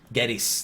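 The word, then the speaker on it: Gettys: Is it Geddes or is it Geddes? I always because they say it so fast that I don't know the Geddes. Geddes, there we go. Because I pronounce it almost like it's Geddes. Yeah. It's like Geddes. I got to pronounce the Y a little bit more.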